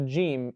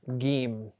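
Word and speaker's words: جيم: But the Arabic language, you'll never find it says anywhere, this is the letter Gim. It's actually the letter Jim.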